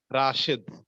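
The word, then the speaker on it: رشيد: ইসমুহু রশিদ, তার নাম কি রাশেদ। আরবিতে বললে রশিদ বলতে হবে, আরবিতে কি রশিদ। আরবিতে আপনি রাশেদ বললে এটা অশুদ্ধ হবে।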